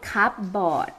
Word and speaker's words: cupboard: You don't call it cupboard.